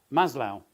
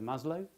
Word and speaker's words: Maslow: moment and then um Maslow I'm told that's how he pronounces it I would have said Maslow you know Maslow's needs